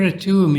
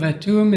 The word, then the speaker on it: Atum: and the name of a tomb is written with two hieroglyphs a half circle pronounced t and a sled pronounced tum I've already spoken a